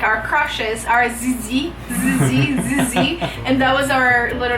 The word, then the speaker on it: Zizí: Zizí, Z-I-Z-I, accent on the last I.